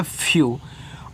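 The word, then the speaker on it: few: जब किसी के बाद ई डब्ल्यू दे दे तो इसको पढ़ते हैं यू। लेकिन पहले वाले को आप करोगे आधा। जैसे एफ के बाद ई और डब्ल्यू है तो एफ से आपका यहां पे आधा फ इस तरीके से यू कर देना। ये आपका हो जाएगा फ्यू।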